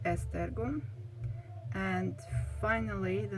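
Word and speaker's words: Esztergom: then the name of the town which is pronounced estergo and finally the name of the ipad prints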